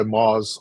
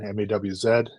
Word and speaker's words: Maas: name is MOS I go by Moos online mawz uh it's literally just the phonetic pronunciation of my last name because nobody can pronounce